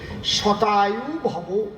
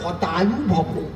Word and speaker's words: শতায়ু ভব: শতায়ু ভব। শতায়ু ভব মানে কি? 100 বছর আয়ু লাভ করো। ওনার তো সব উচ্চারণ হয় না। উনি যেই সেবা দেশে উনি কয় হতায়ু ভব।